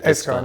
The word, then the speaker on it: Eskan: Eskan, yes.